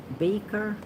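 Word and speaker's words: Beecher: that makes us rich that's from Henry Ward Baker b-e-e-c-h-e-r and yes that's how you say it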